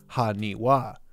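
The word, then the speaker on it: はにわ: fun Japanese wordplay as in Japanese 828 can be pronounced haniwa as the number eight can sometimes be read as ha or wa so its sales price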